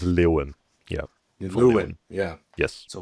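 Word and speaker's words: Leuven: Leven. No. No, it's it's Lewan.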